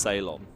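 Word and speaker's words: Zeijlon: Robert's last name is pronounced Ceylon, Nice. but it's spelled Z-E-I-J-L-O-N.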